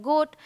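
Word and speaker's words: goat: अब यहाँ ओ ए है, ए साइलेंट है तो ओ करके बोलना है, ये है गोट।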